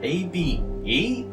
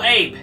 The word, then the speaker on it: Abe: It was the one with the I forgot how you pronounce his name cuz like it's A is it AB or Oh, Abe.